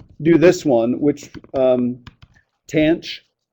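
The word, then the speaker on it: tanh: this one which um tanch is how we'd pronounce that okay it's going to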